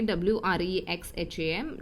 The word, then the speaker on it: Wrexham: दो जगह का नाम है किर्क और सेकेंड जगह का नाम है जो W से शुरू हो रही है, WREXHAM. W is silent here. Wrexham.